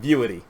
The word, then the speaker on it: Vuity: it's called beauty v-u-i-t-y i've heard it pronounced a whole bunch of different ways so i'm just calling it viewity and what it said